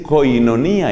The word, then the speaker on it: koinonía: es la palabra comunión en griego se dice koinonía y se escribe con k en la primera carta